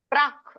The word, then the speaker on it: ಪ್ರಾಕ್: ಹಾಗೆ ಹೇಳ್ತಾ ಇದ್ರಿ ಸೋಡುಂ ಪ್ರಾಕ್ ಕ ಕೆ ದೀರ್ಘ ಇದೆ ಪ್ರಾಕ್ ಅನ್ಬೇಕು ಪ್ರಾಕ್ ತಪ್ಪು ಏನ್ ಹೇಳಬೇಕು ಪ್ರಾಕ್ ಶರೀರ ವಿಮೋಕ್ಷಣ ಅಲ್ಲಿ ಕೂಡ